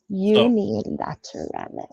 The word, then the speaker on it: unilateralis: an oio corops unilateralis unilateralis so like lateralis like the Tool album but uni yeah you know okay